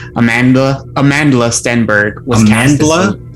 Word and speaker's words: Amandla: pronouncing that correctly amanda amandla stenberg was canceled like a bandla yeah it's like amanda with an l in it okay yeah with an